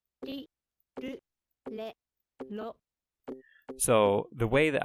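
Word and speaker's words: れ: difficult to pronounce, because you would think that it's like in English, ra, ri, ru, re, ro, but they are a little different. La. Ri. Ru. Le.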